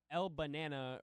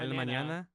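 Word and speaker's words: El Mañana: Elmanana. Elmanana. Oh, okay. Because I'm actually I'm Hispanic. Elmanana.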